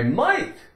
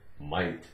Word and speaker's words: might: eggs and milk I might stop on the way home and pick up some eggs and milk gh is silent in the word might this is the end